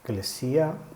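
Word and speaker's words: ἐκκλησία: Eclesia, tuceu, es como se pronuncia en el Nuevo Testamento.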